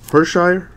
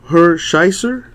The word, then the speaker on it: Hershiser: Orel Hershire. Or how do you say that? Orel Hershiser.